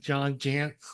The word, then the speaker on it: Jantz: Well, also a shout out to your dad, John Jantz, which rhymes with pants, for creating duct tape marketing and for creating all of this.